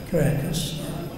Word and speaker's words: Caracas: He's coming first from Mexico City, then from Mexico City to Caracas, Is that how you pronounce it? Correct. Caracas.